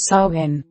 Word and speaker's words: Samhain: Samhain, pronounced sow-en, is a pagan holiday that has been observed for centuries.